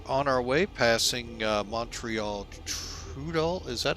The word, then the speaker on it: Trudeau: All right, so we are on our way passing Montreal Trudeau. Is that how this is pronounced? Hang on. Yeah, Trudeau.